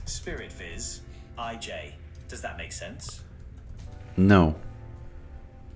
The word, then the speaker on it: Spirit Visage: It's pronounced Spirit Viz, IJ.